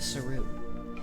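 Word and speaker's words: Seru: I don't care, this is how I pronounce it. It was the Saru. And yes, that is the actual official pronunciation based off of an old PlayStation Underground interview.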